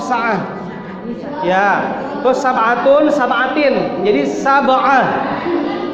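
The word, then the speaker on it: ساعة: Menjadi sa'ah. Bacanya secara diwakaf sa'ah.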